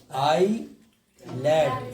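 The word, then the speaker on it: islet: तो आई land, आई लेट या आई लेट, आई लेट या आई लेट, ठीक है। अब टी, टी साइलेंट, यानी कि जब देखना है कि टी को कब नहीं पढ़ते हैं, ठीक है।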